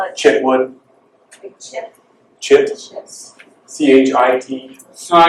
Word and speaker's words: Chitwood: but Could you say that again or spell it? Chitwood, Chip.